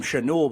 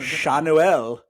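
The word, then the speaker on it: Schanuel: him was uh Nolan we called him chanu but they pronounced it like they pronounce it Shanel some French French pronunciation but he had a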